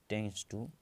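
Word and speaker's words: tends to: तो इसमें टेंस टू, ये डी साइलेंट हो जाता है, डी काट दो, इसको पढ़ेंगे टेंस टू x टेंस टू x टेंस टू 1।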